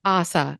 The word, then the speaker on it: Asa: Asa, as in awesome, awesome, There Asa.